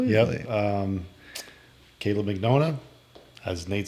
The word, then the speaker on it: Mignogna: Caleb McDonough is how it's pronounced. For some reason Siri will only call you when I tell her to call Caleb.